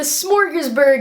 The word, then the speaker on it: Smorgasburg: And all of a sudden, we see and we realize that the smorgasburg is happening. That probably sounded like I was trying to say smorgasbord and pronounced it wrong, but I didn't.